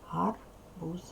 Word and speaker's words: гарбуз: віл а прив'язаний правильно чітко вимовляйте дзвінкий приголосний в кінці слова що це гарбуз правильно золотий клубочок сховався